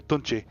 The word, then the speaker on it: Tunche: So Tunche is that the standalone demo shows the gameplay extremely well.